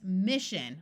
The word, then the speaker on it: mission: will go silent so this word is not going to be Miss it's mission where this s goes completely silent so here we have